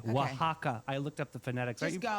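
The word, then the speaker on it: Oaxaca: In the serene hills of Wajaka, Mexico. They spell it o Ax a ca. Wajaka.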